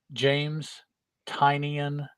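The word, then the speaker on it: James Tynion: i always forget to look beforehand yeah uh pronunciation james tinian that is how you're supposed to pronounce it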